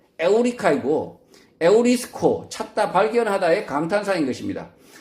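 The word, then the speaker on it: εὕρηκα: 얻어 강탄하며 유레카라고 외쳤는데 그 유레카의 실제 헬라어 발음은 에오리카이고 에우리스코 찾다 발견하다의 강탄상인 것입니다.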